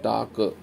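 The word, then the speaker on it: talk: टाक sound निकली टाक, L silent है तो लिखेंगे टाक, टा टी में ए लगाया और क।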